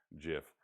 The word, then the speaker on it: GIF: It's not a GIF. It's spelled GIF, but it's actually pronounced GIF.